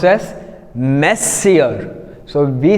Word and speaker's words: monsieur: Then here the next word, this is the main, we have M-O-N-S-I-E-U-R. Usually people after saying this word like this, they pronounce the word as monsieur, which is wrong.